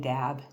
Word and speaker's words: dab: So the spirit is d- a b in the book in the um m language. Um but it's it's not pronounced dab, it's pronounced da.